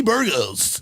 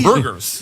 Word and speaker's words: Burgos: I'm Latino, so I'm going to say it correctly. I know a lot of people, Kenny Burgos. None of my teachers have said that, so I appreciate that. Kenny Burgers.